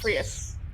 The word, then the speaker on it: Freese: Freese. Okay. Like Prius, but with an With an F.